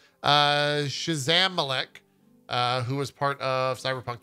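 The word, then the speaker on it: Szamałek: It will be written by Jacob Schmalzmek. That's not how you say his name. Shazamalek, who was part of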